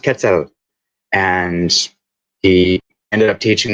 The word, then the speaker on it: quetzal: the bird, the quetzal, and I pronounced it Mhm. wrong. I called it the quetzal, and he was like, "The what?" And I'm like, "The quetzal. It's this bird." And I showed him. He's like, "No, no, no. It's pronounced quetzal."